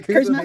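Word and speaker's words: Kuzma: Kyle Curry. Kyle Curry. Kurzma, sorry.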